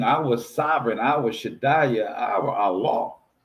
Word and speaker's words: Allah: So understand this is our king, our sovereign, our shaya, our allah pronounced a l ah Allah. They want to put a e in front of and say it's a soft e but it's the alaf